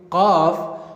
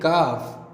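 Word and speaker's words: ق: Q while pronouncing, and when you are pronouncing Qaf, you have to make sound from your throat, like Qaf, Qaf, Qaf. I am not saying Kaf, it's Qaf, Qaf.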